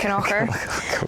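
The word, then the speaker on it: Kilconquhar: Looks like Kilconquer, but it's pronounced Knocker.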